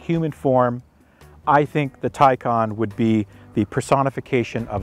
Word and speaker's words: Taycan: it now it's pronounced tycon think of tai you wear a tie or there's a tie in sports and think of star trek two i believe wrath of khan khan taikon there you go that'll